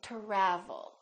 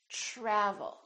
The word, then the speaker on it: travel: So the TR together make this sound almost like a CHR, almost like ch, but it's a softer one. It's try, try. So let's look at some words that are spelled with TR. Try. Travel. We don't say travel or travel. We say travel.